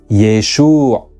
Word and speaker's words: Yeshua: guttural a as all it is thus most likely that when Jesus his family and his disciples said his name they pronounced it as yesu when he traveled to